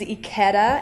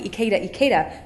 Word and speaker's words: Ikeda: Ikeda. And it's taken me so long because I want to say Ikeda, but it's Ikeda. That's right. Okay. Perfect. Rhymes with Eda Mame.